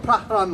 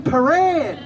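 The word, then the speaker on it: Prahran: oh mate, you mean Paran? And my dad said, no, Pahran, it's spelled P-R-A-H-R-A-N. He spoke good English, he could actually read English. He didn't know it was pronounced Paran.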